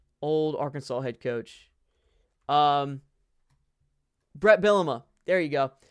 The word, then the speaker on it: Bielema: Brett Bielema. There you go. Bielema.